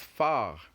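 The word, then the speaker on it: phare: And finally, we have the last word, which is far. Far. Remember, we said far, not far. Far. You end the pronunciation with the R.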